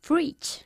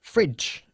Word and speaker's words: fridge: Fridge. Fridge. Es más corto el sonido de la vocal.